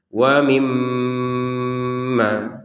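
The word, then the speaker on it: وَمِمَّا: Giliran mim bertasydid tidak hanya ditekan tapi dengan dengungan. Sekali lagi dengungan. Wa mimma. Ya, letak dengungan itu ada di rongga hidung ya. Rongga hidung itu kita bergetar ataupun ada dengungannya. Panjangnya berapa untuk dengungnya? 2 harokat.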